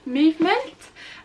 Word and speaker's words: MVMT: Okay, next up I have some bits from the brand Movement, but it's spelt like MVMT, if that makes sense.